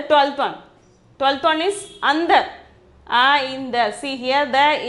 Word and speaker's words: अंदर: 12th one is andar. In the, see here the in is half. Then only you have to pronounce it as consonant sound. Then andar. The pronunciation is andar.